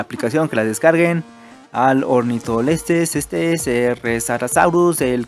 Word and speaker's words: Ornitholestes: Tenemos al Ornitholestes, sí, así se pronuncia.